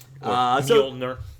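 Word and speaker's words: Mjölnir: Well, as Kat Dennings pronounced in the Thor movie. Yep, that's it. Mjolnir.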